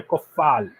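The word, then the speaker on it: Coufal: points at the start is vladimir koffal vladimir koffal that's how we pronounce him he's done it in fpl as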